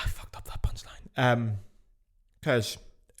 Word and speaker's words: Kölsch: Kölsch, it's pronounced like Köln.